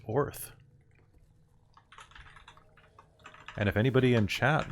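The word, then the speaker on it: Oerth: Or Oith? Oith? Orth? Oith? There's a pronunciation guide that's really throwing me, guys. Orth. From Orth. It's just Gaelic earth.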